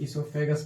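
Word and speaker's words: oesophagus: वो साइलेंट रहता है, इसको हम लोग इसोफेगस पढ़ते हैं।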